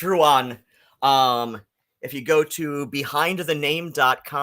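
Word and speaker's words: Ruadhan: a d h an I assure you if you speak Irish if you speak even as barely any Irish as I do you know that my name is pronounced Ruan how badly does Ethel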